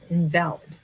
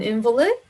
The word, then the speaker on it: invalid: insurance card invalid and invalid okay so an invalid right is a noun in this case an invalid insurance card invalid is an adjective they have two different pronunciations there are issues around